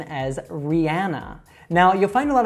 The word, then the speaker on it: Rihanna: All right, so she would say her own name as Rihanna. Now, you'll find a lot of Americans that also mispronounce this by saying Rihanna. Now, the correct way is with that ah sound, but either way, you'll definitely be understood.